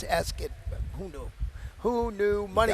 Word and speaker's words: Ascot: I thought it was Ascot my whole life, but it's Ascot.